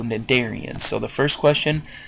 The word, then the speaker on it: cnidarians: this word in class know that the sea is silent so cnidarians so the first question